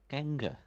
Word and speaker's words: Gengar: with red Sun Titans Gengar like the Pokemon yeah oh that'd be why I don't I'd pronounced it wrong then right let me get